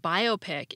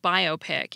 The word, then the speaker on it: biopic: get wonderful not wonderful so when we learn that the IC at the end of biopic isn't a suffix at all much less one that needs a stressed syllable before it we're immediately less likely to put the stress on the op op and when we learn